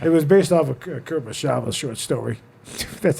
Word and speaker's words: Kurosawa: soundtrack Yeah, for it was based off of Kurosawa's short story. That's how you pronounce it.